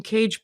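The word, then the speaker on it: Kage: And Cage Baker is spelled with a K K A G- E. Baker is spelled like Baker. And then Lois McMaster Bold has a great arc.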